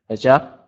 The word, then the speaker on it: job: Charity is the initiative job. Oh, charity is an energetic job. Yeah, definitely. When we say the word job, you want to make sure to pronounce that B sound. Job. Job.